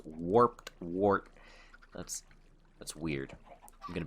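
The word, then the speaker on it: warped wart: warped wort that's you you feel slow saying it like you have to say it slow to say it right it's warped wort that's that's weird you're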